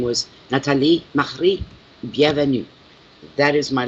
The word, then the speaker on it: Natalie: Yes, it's Natalie, and it's spelled Natalie, and no matter what language, French or English, but the proper pronunciation is Nathalie. Nathalie.